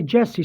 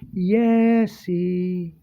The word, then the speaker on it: Jesse: they say my name, they usually take the J and they pronounce it with a Y sound. So instead of Jesse, it's Yesy.